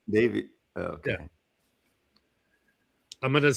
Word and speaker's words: Davies: Ray Davies pronounced Davis Okay.